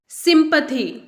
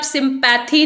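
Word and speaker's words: sympathy: Next is सिंपथी। सिंपथी, सिंपथी का मतलब होता है दया, इसे आप सिंपैथी नहीं बोलेंगे, ये वर्ड है सिंपथी, दया या सहानुभूति।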